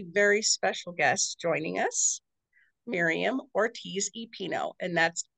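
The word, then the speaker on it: Miriam Ortiz y Pino: we have a very special guest joining us Miriam Ortiz epino and that's how to pronounce it correctly right correct wonderful Miriam is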